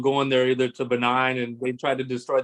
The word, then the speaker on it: Benin: I find it interesting that Raven calls it benign instead of Benin.